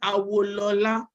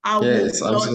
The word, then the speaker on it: Awolola: Actually, my name is pronounced Awolola because I noticed you were having like difficulty like pronouncing it. It is Awolola.